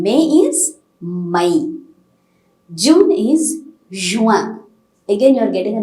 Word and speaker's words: Juin: June is Juin. Again, you are getting a nasal pronunciation here. It's not Juan, no, Juin.